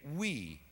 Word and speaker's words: Oei: His name is David Oei, which does sound tiny, but it is not spelled W-E-E, it is spelled O-E-I.